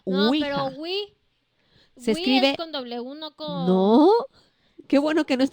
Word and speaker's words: ouija: no con w no se escribe o ouija se pronuncia una wii qué bueno que no